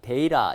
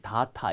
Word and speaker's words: data: 그리고 이제 발음이 데이터, 데이라 이건 미국식 발음이고 호주 쪽 사람들은 보통 다타 이렇게도 많이 읽어요.